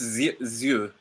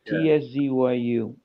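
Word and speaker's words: Tszyu: Yeah, it's Zhu, like a very slight Zhu. Tzyu.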